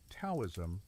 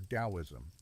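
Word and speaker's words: Taoism: Towism or daoism pronounced toism or daoism.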